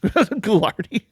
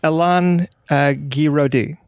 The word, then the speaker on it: Alain Guiraudie: How do you say his name? Elaine Goulardi? Goulardi. It's probably Goulardi. I don't think that is at all. He comes from Oxnard. Yeah, go on. Mm-hmm. It's Alain Guiraudie.